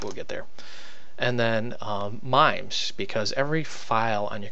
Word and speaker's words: MIME: And then MIMES, because every file on your computer has what's called a MIME type. Am I pronouncing that right? M-I-M-E, MIME.